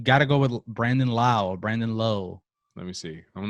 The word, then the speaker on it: Lowe: Brandon rhymes with Lau. Okay. All right. That's weird because same spelling, other players, you pronounce it Low.